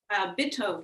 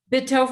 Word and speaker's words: Bitove: Bitove method. Bitove method, okay.